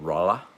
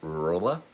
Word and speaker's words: Rolla: We live in central Missouri, a little town called Rolla, or as my cousin used to pronounce it, Rolla. Um, because it's spelled Rolla.